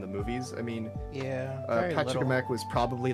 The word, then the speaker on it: Pachacamac: Oh, I said Pachacamack's name wrong. It's Pachacamack. It's Pachacamack. Pachacamack. That's his name.